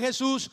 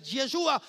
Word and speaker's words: Yeshua: Otros dicen que el nombre de Jesús está relacionado con el Dios griego Zeus. Entonces, que tampoco se debe pronunciar Jesús. Que nosotros debemos pronunciar es Yeshua.